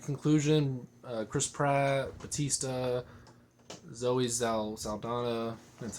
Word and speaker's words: Saldana: Chris Pratt, Batista, Zoe Saldana.